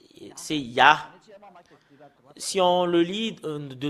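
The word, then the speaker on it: יה: Cela devient I, soit I ou I, parce que c'est AH qu'on le prononce, c'est Yah.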